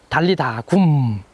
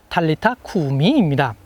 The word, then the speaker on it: 달리타 쿠미: 달리다굼. 이것은 아람어를 헬라어로 음역한 것입니다. 아람어로 정확하게 발음하면 달리타 쿠미입니다.